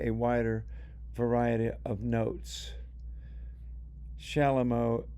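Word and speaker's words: chalumeau: Shalomo is spelled c h a l u m au. Shalamo.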